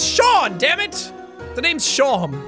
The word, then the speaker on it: Seam: The name's Seam. Pronounced Shawm. Oh my god! Oh, I've had this happen to me in real life. Your name's Shawm. It's like Sean.